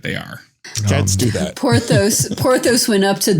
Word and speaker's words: Porthos: from eating all that it's pronounced porthos porthos not portos he saw a dog